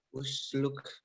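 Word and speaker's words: اسلك: Kenapa dibaca u Dafa? Karena hamzah wasol. Dan ya. Karena hamzah wasolnya kenapa? Di awal kalimat dan huruf ketiganya berharokat doma. Iya, hamzah wasolnya ada di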